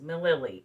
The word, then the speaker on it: Mililli: So that's Merlin, like the wizard, no space, Mililli, Mililli.